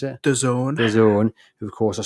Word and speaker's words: DAZN: How do you pronounce it? DAZN.